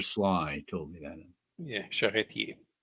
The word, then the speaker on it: Charretier: And you don't pronounce the R in the end of her name. Probably Ranger Sly told me that. Yeah, Charretier. Charretier.